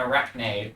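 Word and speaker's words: Arachne: It's just a different color as if staring at an arch or an arachnne depending on how you wish to pronounce it.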